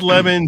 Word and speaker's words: Lemon: It is Lemon, but people mockingly call him Le Man.